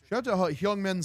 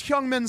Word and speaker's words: Son Heung-min: They really said Son's name wrong. That's crazy. Like that's so disrespectful, brother. Like in in Korean for the Koreans like they say their they they say the last name first, brother.